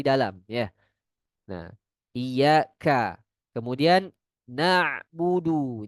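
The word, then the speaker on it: نعبد: Ini ada sebagian yang lafalkannya huruf hamzah. Karena budu. Ini harusnya satu lagi merubah sifat juga ya. Oh iya, di sini juga ada ya merubah sifat ya. Selain salah pelafalan dengan hamzah dia juga merubah sifatnya. Huruf ain memiliki sifat eh bainiyah. Sebagian suaranya keluar, sebagian lagi tertahan ketika dia mati. Karena na masuk sebagian ya, sebagian lagi keluar.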